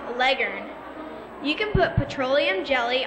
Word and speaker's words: Leghorn: facts about the Leghorn the chicken Pros know that Leghorn is actually pronounced Legend you can put petroleum